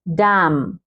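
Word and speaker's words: damn: डैम, डैम, डी ए एम, एन को sound नहीं देंगे हम, डैम ने नहीं पढ़ेंगे, डैम लानत है।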